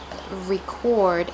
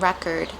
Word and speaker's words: record: There's a difference between record and record as well as increase and increase in terms of noun versus verb. So record, the thing that we play the music on is a noun. It's a thing versus record is an action. So it's a verb.